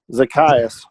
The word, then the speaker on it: Zacchaeus: little man zacchaeus yeah zach zakiyas yeah that so that's how you you're supposed to pronounce it zacchaeus uh well that would